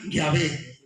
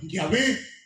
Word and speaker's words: Yahvé: Ese nombre, YHWH, le pusieron una A y una E para que se pronunciara Yahvé.